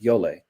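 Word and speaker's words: Djole: to be playing is a rhythm called yolei um he's built in English it's spelled d-j-o-l-e so d j o l Yole it's a rhythm from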